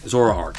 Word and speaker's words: Zoroark: by a zara a zoroark azor arc zoroark that's how you say it zoroark all right